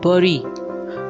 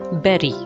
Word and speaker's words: bury: dead berry means bury the dead it's not burry although this is considered as indian pronunciation of this word but the correct pronunciation is beri next i have a set of four words